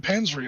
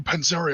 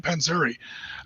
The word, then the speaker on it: Panzeri: But since then uh Pete Panry, another big uh or Penzeri I should say his name correctly. Pete Panzeri um famous guy in